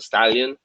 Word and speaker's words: stallion: that I was dying it sounds like Stalin but already we said